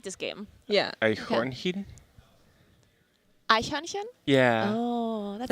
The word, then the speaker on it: Eichhörnchen: Eichhörnchen. Eichhörnchen.